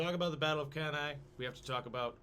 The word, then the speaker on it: Cannae: Cannae. That's the Latin pronunciation. The Or Battle of- Cannae.